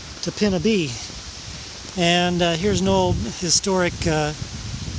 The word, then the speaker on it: Topinabee: That's what I was told by a guy in Cheboygan is how it's pronounced. I've been calling it Topinabee, Topinabee, but he says it's Topinabee.